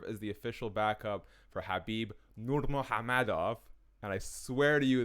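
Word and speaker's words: Khabib Nurmagomedov: he will serve as the official backup for habib nurmagomedov and i swear to you that's how you pronounce the name versus justin gaichi um what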